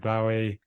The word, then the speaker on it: Bowie: to mention David Bowie it's interesting you say Bowie I say Bowie I think he said he didn't know it's like either and either you can choose the different ways of pronouncing the same word and I think he didn't care or he didn't actually know correct way because it's not his real name obviously so you can choose the way you you want to pronounce it but yeah David Bowie